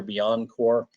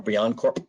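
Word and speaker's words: BeyondCorp: There's, the Forrester thing, NIST, Carta, Google has their Beyond Core, or Beyond Corp, depending on who you talk to, how to pronounce it, implementation.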